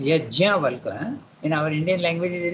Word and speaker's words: Yajnavalkya: Yajnavalkya, you have to pronounce the JN when you write in English, but in Sanskrit it is Yajnavalkya.